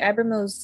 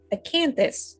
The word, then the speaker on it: Acanthus: And today I will be playing the Abramos of the Free Council. No, note that it's not. I said that wrong. I pronounced that incorrectly. Acanthus of the Free Council, Angelique.